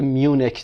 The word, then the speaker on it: Munich: استکهلم هست در سویدن و مونیخ در آلمان که میونیک تلفظ میشه.